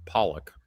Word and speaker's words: Pollack: It's got to be a Sidney Pollack film, right? And Lance, why are you saying his name like that? It's Pollock.